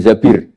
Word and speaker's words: Zabir: nikah sama Abdurrahman bin Zabir di hadis ini bukan bacanya bukan Zubair tapi zabir Abdurrahman bin Zabir tapi orang Arab itu